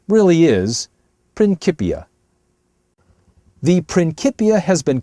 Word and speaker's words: Principia: Although you might hear it mispronounced sometimes as Principia, the true pronunciation really is Principia.